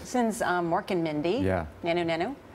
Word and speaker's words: Nanu Nanu: Nanu Nanu. God bless you. You pronounced it correctly. A lot of times people will say, like, diddy diddy, zooty zooty.